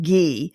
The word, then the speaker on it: ghee: Spelled Ghee, pronounced ghee.